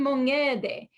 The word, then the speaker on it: Mongede: In Judeo-Italian in Rome, Buon Mongede. Now the ayin in Judeo-Italian is pronounced ng. Ng, like ngainare, means to see from ayin, the word for eye.